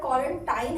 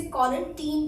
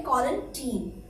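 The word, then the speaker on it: quarantine: वैसे तो ये वर्ड क्वारंटाइन है, लेकिन इसे क्वारंटीन पढ़ा जाता है। सही प्रोनाउंसिएशन है क्वारंटीन।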